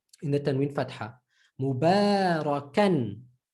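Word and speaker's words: مباركا: Mubarakan. Mubarakan. The alif is silent.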